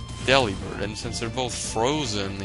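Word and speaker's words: Delibird: say them you know people would say you should say deliber or deliber right because it's like it's supposed to rhyme with delivered because he's a delivery bird so delivered so it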